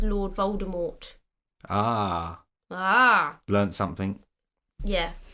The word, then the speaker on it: Voldemort: that's what it's Lord Voldemort ah ah learned something yeah and then JK rolling was no you don't pronounce it with the T shut up she changes